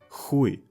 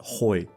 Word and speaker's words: нахуй: It's pronounced as иди нахуй. Хуй. Not хой.